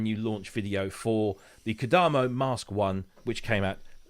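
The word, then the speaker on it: Kodamo: right you know the the emphasis is always on the penultimate syllable so it's kadamo so that's what we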